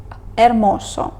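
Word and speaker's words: hermoso: наступна літера а ч ми її пишемо але ніколи не вимовляємо наприклад ермосо далі літера і вимовляється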